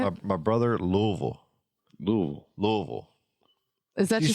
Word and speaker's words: Louisville: Louisville. Is that She just says people from there? She says It's Louisville.